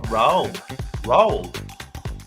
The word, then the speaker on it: Roald: I'm going to try to pronounce his first name here. Roald.